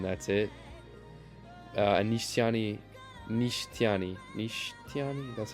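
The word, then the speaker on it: Nishitani: Uh, Anishani, Nishtani, Nishani, that's how you say his name.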